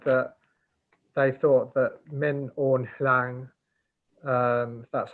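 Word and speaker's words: Min Aung Hlaing: person and they said that they thought that min hang that's how you say it that the reason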